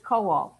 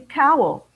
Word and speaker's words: Kowal: on his father's side jack's last name is kowal the family changed the pronunciation they changed it to cowell jack's father would tell